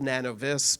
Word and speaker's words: Nanovis: So it's spelled Nanovis, but it is NanoV.